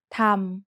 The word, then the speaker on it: ธรรม: way to write สระอะ But if there are two รอเรือ attached to an initial consonant with no final consonant in the syllable, then we pronounced it อัน We have a special